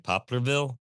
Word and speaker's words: Poplarville: Yeah, and you guys are in make sure I'm pronouncing it right, Poplarville, Mississippi?